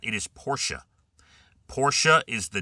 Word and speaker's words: Porsche: Uh Porsche is not Porsche. Anywhere you go. Porsche is not. It is Porsche. Porsche is the name of the company. It's two syllables.